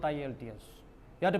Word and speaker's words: IELTS: So, we have to pronounce it IELTS, not IELTS.